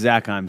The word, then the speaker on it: Zakheim: Zakheim, did I pronounce that correctly? It's Zakheim, sir, but I'll respond to anything.